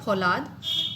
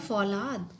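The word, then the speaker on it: फ़ौलाद: इसी तरीके से फौलाद, अगर हम यहाँ पर नुक्ता नहीं लगाएंगे तो ये होगा फौलाद, और नुक्ता लगाने से ये हो जाएगा फौलाद।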